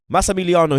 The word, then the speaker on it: Massimiliano: Massimiliano, he's a man that I rate I love highly.